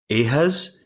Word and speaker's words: ehes: We drop the ye sound at the beginning of the word in Lake Cornish. Okay. So it's ehas.